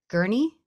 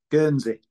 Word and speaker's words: Guernsey: Or maybe you were talking about whether to move back to Gurney. Did I say it right? Guernsey. Guernsey.